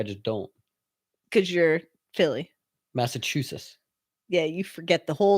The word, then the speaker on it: Massachusetts: Massachusetts. Oh, so you pronounce the T, which is probably right. I just don't. Because you're Philly. Massachusetts. Yeah, you forget the whole last T. Yeah. Yes. Massachusetts.